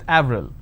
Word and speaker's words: Avril: For example, the name April, it's a month, right? In French, it's pronounced as Avril.